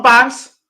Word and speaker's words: Barnes: So let me say it properly in case you think, who's he saying? Bunce? Who? John Barnes, Liverpool.